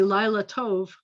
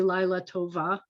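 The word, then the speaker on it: לילה טוב: to say good night i say lila tove i'm not going to say lai letova ever it would be wrong lila tov tov is an adjective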